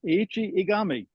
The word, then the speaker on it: Eiichi Egami: one of them is our feature which is aichi igami so welcome aichi am I pronouncing the name correctly first of all yes